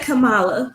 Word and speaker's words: Kamala: um pronouncing her name is it kamala or kamela she said kamala so that's what your